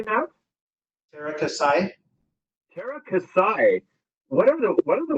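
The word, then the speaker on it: Teras Käsi: Terra Kasai.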